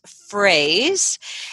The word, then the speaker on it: Froese: a little side note your last name is spelled F ro e SE but it's pronounced phrase and I wanted people